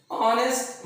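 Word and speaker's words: honest: ऑनेस्ट मैन, ऑनेस्ट मैन, इसका उच्चारण करके आप देखो, ऑनेस्ट मैन, आ रहा है तो क्या है, एक वॉवेल साउंड है, तो एन ऑनेस्ट मैन।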